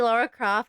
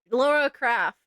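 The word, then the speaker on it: Lara Croft: I got in time to see Laura Croft. Shoot Laura Craft Croft. There we go. I said it right the first time.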